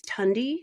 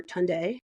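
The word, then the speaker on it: Tunde: gangster then there is tundi or tund tund sorry that's the correct pronunciation he is an aspiring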